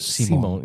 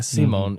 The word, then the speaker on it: Simon: And is pronounced Simon Simone. Yeah. Simone.